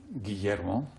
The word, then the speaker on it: Guillermo: Take me through the pronunciation of your name once again. Guillermo.